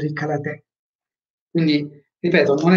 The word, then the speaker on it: karate: fasulle, la R moscia, ma in giapponese la R si pronuncia come una L morbida, non è ka, la, te, ma kala, te, kala, kala, la, ok, morbida.